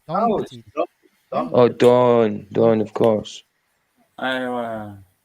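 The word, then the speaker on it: Don Pettit: not showing John Petit, mate? Come on, John Petit. Don. Oh, there we go. That's why it's spelled wrong.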